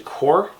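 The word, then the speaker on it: corps: So, I drew a sword because apparently it's actually core and not corp. The P is silent, so I'm guessing all the P's are silent in this game.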